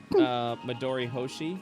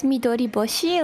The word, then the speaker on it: Midori Boshi: So is it Midori Hoshi? Is that how you say it? So it's Midori Boshi, like when you combine them together. Boshi. Yeah, I saw H, and that's why I was like, oh, a Hoshi.